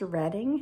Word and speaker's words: Reading: asked him again so is the town pronounced redding and he said yeah